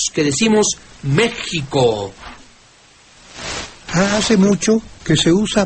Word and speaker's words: México: El español de tiempos de la Reforma ya es, al enseñarse decía que México debe escribirse con X y pronunciarse desde luego con J.